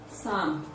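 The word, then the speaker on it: psalm: reflect in the pronunciation words like sum as in p s a l n pneumonia empty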